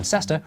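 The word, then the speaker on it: cester: over hundreds of years locals who were too busy to pronounce all the syllables in cesta reduced it to stir to save time but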